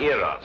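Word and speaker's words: Eros: influence of cockney stagehands she added an h where there shouldn't have been one what then spell it as she spelled it but without the h e r o s precisely and here he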